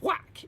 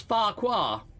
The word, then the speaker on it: Thwack: Well, Warfy, his name is Warfy Thwack. That last bit is Thwack. It means happy or fun in Klingon. But I read it as Farquhar. And I read it out to him. I was like, Warfy Farquhar. He's like, that's not how you pronounce my name.